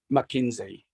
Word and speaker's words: Makinzie: but these products will be branded under McKinsey. What's that? And it's spelled Makinzie. Makinzie. Yeah, Makoto Kinjo from New Zealand. Okay, that's beautiful. What we're bringing. It's a play upon words on your name.